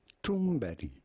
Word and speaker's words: Thunberg: We are looking at how to pronounce Greta Thunberg.